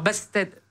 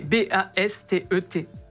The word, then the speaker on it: Bast: un e accent alors basse-tête c'est Bast tout simplement comme ça se prononce merci beaucoup Cyril juste